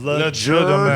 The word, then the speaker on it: Legerdemain: Legerdemain. The hard G.